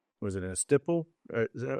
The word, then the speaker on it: estoppel: I got to have everything in writing, and I've got to have a, was it a stipple? Is that how you say it? From estoppel letter?